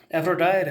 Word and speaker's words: Aphrodite: Aphrodite has good pronunciation is Aphrodite, Aphrodite and Nereis.